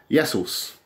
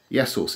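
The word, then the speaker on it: Ιησούς: Christ anointed one Christos to say Jesus Jesus yesos yesos it's spelled like a no but it's yesos now if you want to pronounce drugs Pharma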